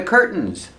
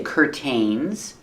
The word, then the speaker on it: curtain: The second syllable is not stressed. So you have 2 pronunciations that are correct. You can say curtain, tin, curtain, or curtain, curtain, where you make the stop T and it falls to an N.